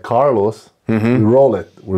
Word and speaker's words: Carlos: Is it Carlos? No, Carlos.